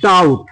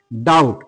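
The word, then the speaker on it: doubt: তহলে এখানে দেখো ডেট তহলে এই বি এই বি এর কিন্তু সাউন্ড হলো না এরপরে দেখো ডাউট ডাউট ডি ও ইউ বিটি ডাউট এখানে দেখো বি এর কিন্তু সাউন্ড কিন্তু আমরা পাচ্ছি না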